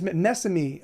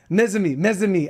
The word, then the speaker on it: Mezami: Am I pronouncing that correctly? Mezami. Ah, Mezami. Ah, hard as Z.